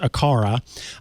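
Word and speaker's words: Aqara: way so i knew i know now it's pronounced akara akara makes some cool homekit accessories uh rosemary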